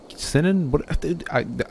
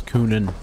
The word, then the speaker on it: Cynon: we are here and the correct pronunciation is kunin okay it looks nothing like that but it is kunin avor said it again